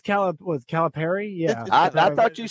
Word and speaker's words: Calipari: Calipari. Here's the deal. I'm going Perry. Well, I've heard Pari and Perry. We've heard them both. We've heard them both. Well, you have, but Perry's correct.